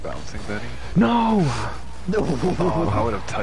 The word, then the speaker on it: bouncing Betty: It's pronounced bouncing Betty.